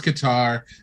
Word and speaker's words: Qatar: venues now and it probably is pronounced cutter cutter Qatar yeah yeah yeah I've always heard it this cutter I've heard his guitar I've heard his is